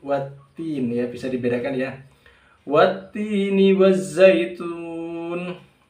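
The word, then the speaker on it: والتين: minas syaiton nirojim Bismillahirrohmanirrohim watini wazaitun watini wazaitun untuk What tim ini terkadang sebagian kaum muslimin membacanya dengan waddin ya ini malah keliru karena Hai dusta testi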